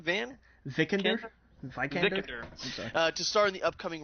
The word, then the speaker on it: Vikander: Alicia, how do you pronounce the last name? Vikander.